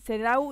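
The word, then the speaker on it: CEDAW: que impulsa el sedau que es el sedau y sedau con w al final es difícil de pronunciar porque es una sigla en inglés es el comité para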